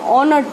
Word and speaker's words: honored: Now children, इसको honored मत पढ़ना, इसको हम honored पढ़ते हैं. H is silent.